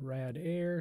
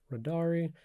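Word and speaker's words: radare2: so radar 2 is a reverse engineering tool and it doesn't have a standardized pronunciation so some people call it Rad Air some people call it radari I'm just going to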